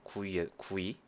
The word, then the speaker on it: GUI: 그리고 참고로 GUI 이거는 외국에서는 구이라고 그냥 발음해서 읽어요. 구이 구이. 근데 뭐 한국에서는 보통 GUI라고 읽으니까 저도 GUI라고 할게요.